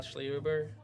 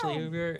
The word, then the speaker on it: Schlehuber: This was Schlehuber. How do you say it? You said it right. I said it right. Good job. Schlehuber, and I'm Skylar Gilbert.